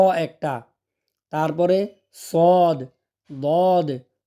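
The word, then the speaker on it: ص: উপরের তালুর সাথে লাগিয়ে বাতাস সহকারে শীষ দিয়ে উচ্চারণ হবে শিন শিন শিন তারপর সদ সদ আমরা অনেকে সোদ পড়ছি মুখটা পাশের দিকে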